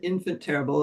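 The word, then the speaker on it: Enfant Terrible: I I pronounce it infant terrible it's spelled the French way um and it's a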